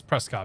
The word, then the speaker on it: Prescott: Dude, it's Prescott, man. Prescott, because that's how it's spelled.